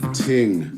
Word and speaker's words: ting: But it actually, to be honest, it sounds Irish because they don't pronounce the TH, so they would say tree instead of three, for example. So they wouldn't say thing, they would say ting.